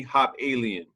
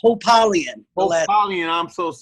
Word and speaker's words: Hopalien: valley california is no other than coach bernie hop alien how's it going everybody how's it going it's pronounced hope alien that's okay everybody has everybody pronounces it their